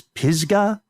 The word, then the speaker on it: Pisgah: I want to say we pronounce this Pisgah National Forest is that correct that is correct yeah The Pisgah National